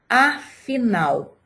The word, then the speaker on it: afinal: Qual é a sílaba que eu pronunciei com mais força? Afinal. Foi a última sílaba. Nau. Então, ela não tem acento, mas a sílaba tônica é nau.